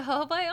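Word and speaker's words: jojoba: It's pronounced hoba oil.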